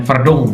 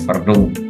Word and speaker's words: Verdonk: Dan kita akan ke pemain ketiga ini pemain yang sudah disebut lama-lama nih, Calvin Verdong. Ini bacanya Verdong kalau Belandanya, Verdong.